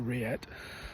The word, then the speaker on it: rillette: Remember, it's not a pate, it's a rillette. At R-I-L-L-E-T-T-E, rillette. Of course, for those who may not know in French, anything with a double L, you drop the pronunciation, so and then it then becomes rillette.